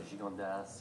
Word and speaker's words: Gigondas: There's such amazing values from there, like a Vacras or a Gigondas or a. You actually pronounce the S.